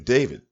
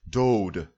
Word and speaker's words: David: from the 10th century bce it mentions king david but his name was not pronounced david his name was pronounced dode not david so everyone calling him david or